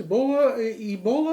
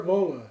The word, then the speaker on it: Ebola: Is it pronounced Ebola or Ebola? It's both, depending on your accent.